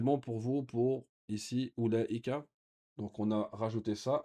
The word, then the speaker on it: أولئك: Ici, أولئك, il y a une prolongation ici qui est prononcée mais qui n'est pas écrite. أولئك, comme ici, ça, c'est pas ça on ne prononce pas le waouh ici.